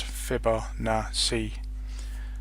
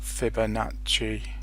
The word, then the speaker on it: Fibonacci: gets respect either way it's pronounced fibber nah see not Fibonacci my Fibonacci with standard